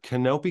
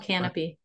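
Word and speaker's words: Kanopy: cool we've got uh canopy california's free library streaming service they have lots it's called canopy canopy my bed it's spelled but k-a-n-o-p-y probably right they have lots of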